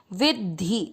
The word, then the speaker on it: विद्धि: की मात्रा लगाएंगे धी, विद्धि। ध्यान देना है द और ध के उच्चारण में।